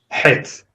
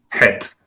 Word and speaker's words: Het: But this is actually closer to an H sound.